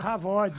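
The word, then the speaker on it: כבוד: É kavod. É isso. Ou, como é que fala? Havod. Havod. Exatamente.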